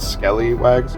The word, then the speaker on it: Skellywags: If you really want a side-by-side of the 1.0 and 2.0, there's another YouTuber called Skellywags. Skelly, like skeleton.